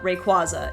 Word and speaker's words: Rayquaza: I mean I know the first a in Rayquaza is the long a like that but it's ra ngoai race so that makes sense but apparently the qu a in Rayquaza or the qu Aza the whole last part is like it comes from quasar so I've come around